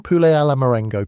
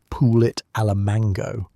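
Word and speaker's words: poulet à la Marengo: Ordering pulle alamarango confidently might earn you admiration unless you pronounced it like pulit alamango.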